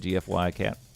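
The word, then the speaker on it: Gfycat: GFY Cat. I call it Giphy Cat.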